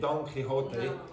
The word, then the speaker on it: Quixote: In English you say Don Quixote, but this is pronounced quixotic.